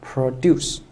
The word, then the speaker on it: produce: 那么这里就是做的是动词，所以应该是读成 produce 啊，produce。